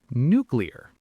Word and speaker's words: nuclear: Normal speed, nuclear. Give it a shot. Not nuclear. I hear that one all the time. Nuclear. You do. It's a very common mix-up.